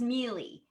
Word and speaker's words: Miele: do you pronounce your name is it is pronounced Meely yeah and then there was a pun with